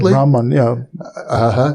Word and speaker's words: Brahman: Atman, my deepest inner self, is equal to Brahman, which, am I pronouncing that correctly? That's right, Brahman, I had a kind of hard CH, Brahman?